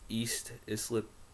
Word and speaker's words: East Islip: which is in uh, East Islip, New York, I believe is how it's pronounced.